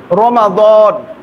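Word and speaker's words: رمضان: একটা মাসের নাম রমাদান রমজান না রমাদান আরবি শুদ্ধ উচ্চারণ রমাদান একটা মাস আর এই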